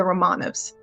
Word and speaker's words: Románovs: There's nothing quite as virulent as the West's obsession with the Romanovs. I'm actually the one pronouncing correctly.